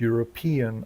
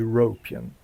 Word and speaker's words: European: w słowie European niewłaściwie zaakcentował nie tą sylabę co trzeba. Powinno być European, a nie European.